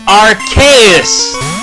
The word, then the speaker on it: Arceus: to tell me that it's pronounced with a hard C? That doesn't make any sense! And you know what? Screw this. I'm gonna keep on calling it Arceus because, well, I've been